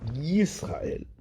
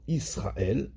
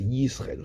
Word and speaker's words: Yisraël: Yutret, Shulchan Aruch, Edgish Yud Shema Israël, de bien prononcer le Yud de Shema Yisraël, chez Otivla et chez Lotere Aleph. Pas qu'il soit avalé et qu'on entende Israël, alors que c'est Yisraël.